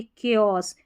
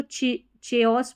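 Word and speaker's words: chaos: है कोरस और ये केओस। देखिए कोरस को आप चोरस पढ़ सकते हैं। तो याद रख लें इसको कोरस पढ़ना है और इसको चोओस पढ़ सकते हैं। है ना? केओस पढ़ना है।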